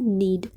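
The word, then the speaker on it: knead: नीड, के silent है, नीड, नीड का हिंदी मीनिंग गूंद या गूंथना या गूंदना, यानी कि आटा गूंदना।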